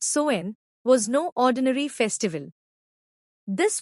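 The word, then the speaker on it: Samhain: the beginning of winter with a festival called samine samine pronounced soen was no ordinary Festival this was the Celtic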